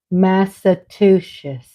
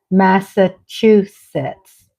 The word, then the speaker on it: Massachusetts: words I didn't know I thought this state was pronounced massachusett until I met my husband Andre how do you say Massachusetts I went to a southern school at a southern teacher my teacher taught me massues and then my husband teaches me it's Massachusetts I am one day